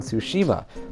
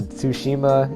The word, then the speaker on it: Tsushima: the teaser silence also it kind of sounds like sushi with a ma on the end well you can speak fluent japanese that's cool i mean tsushima is not that hard